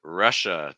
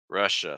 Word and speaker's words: Russia: thing here is that a lot of times students when they say this are using some a sounds like ah but it's uhuh Russia so it's not Russia it's Russia Russia okay um and again